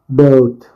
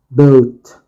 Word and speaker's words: boat: Boat. B. O. The A is a silent letter. T. Boat.